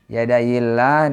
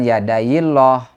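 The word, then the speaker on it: يَدَيِ اللَّهِ: di sini dibacanya atau cara membacanya adalah dengan tarqik mengapa sebab diawali dengan harakat kasrah yadail jadi jangan yadaillah tapi yadaillah tipis tarqik nah panjangnya dua harakat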